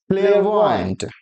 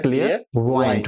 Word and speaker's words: clairvoyant: क्लियरवॉयंट, कुछ लोग इसका प्रोनाउंसिएशन क्लियर वॉ भी कहते हैं, क्लियर वॉ करके छोड़ देते हैं, और कुछ लोग इवन डिक्शनरी में भी इसका प्रोनाउंसिएशन जो होता है क्लियर वॉइंट होता है। क्या होता है, क्लियर वॉइंट, क्लियर वॉइंट, CLAIRVOYANT, क्लियर वॉइंट।